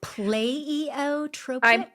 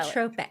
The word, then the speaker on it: pleiotropic: I Pleiotropic? I say it like that because I'm never quite sure how to say it. So That it's works. PLEIOTROPIC, Okay. I believe is how you spell it. Pleiotropic.